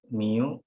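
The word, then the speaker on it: μ: Mu, ini cara bacanya mu ya.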